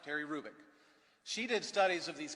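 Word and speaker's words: Hrubec: you h-r-u-b-e-c Terry kubick the H is not pronounced Terry Rubik she did studies of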